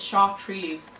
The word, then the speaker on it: chartreuse: It's sort of like a chartreuse. How do you pronounce that word? That like limey yellowy colour, that's chartreuse.